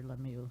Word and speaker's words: Lemieux: you said it right i'm thinking the way you taught me to say it was pepe the pew that's right i'm sorry